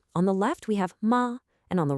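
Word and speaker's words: 馬: It's that character on the right side of both of them, ma. Now, all by itself, that character is pronounced ma, and it means horse.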